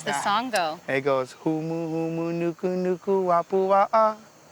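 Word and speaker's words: humuhumunukunukuāpuaʻa: in school like that, so they could actually pronounce it much more better. How does the song go? It goes humu humu nuku nuku apua'a. Humu humu nuku nuku apua'a.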